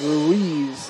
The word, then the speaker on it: Ruiz: And Ruiz is how that is pronounced.